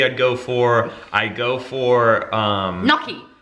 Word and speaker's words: gnocchi: Gnocchi I'd go for. Gnocchi. No, that's not how it's said. It's Italian, it's not Australian.